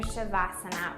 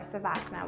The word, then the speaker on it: savasana: how to go into your shavasana or savasana which you have a pronunciation you like better as their final resting